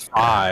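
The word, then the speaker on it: Fai: they saying Fang and Fi are the same? Yeah, Fang and Fang. Fi. No, it's Faye, isn't it? I'm pretty sure it's Faye. Drum F-A-I. Yeah, Fi. It is Fi.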